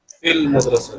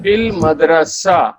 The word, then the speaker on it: في المدرسة: And Hamza will not be pronounced because Hamza is Hamzatul Wasl.